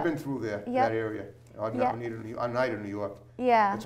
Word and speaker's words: Oneida: Yeah, Oneida, New York. Holly Lynch from Launch Models and Okay. Talent. I've been through there, that area. Oneida, New York. Yeah. That's how you pronounce it.